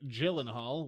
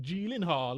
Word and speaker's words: Gyllenhaal: the other bit of news was that Jake Gyllenhaal which is apparently not how you pronounce his name but it's how every American